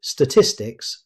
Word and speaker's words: statistics: The stress falls on tis. So, avoid statistics and say statistics.